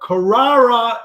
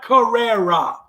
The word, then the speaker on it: Carrara: When I was growing up, Carrara is my name, not Carrera. Carrera is the Porsche. Carrara is the Italian marble.